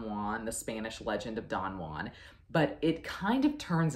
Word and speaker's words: Don Juan: in terms of long-form epic poetry we have Don Juan and yes we are supposed to pronounce it like that apparently because Lord Byron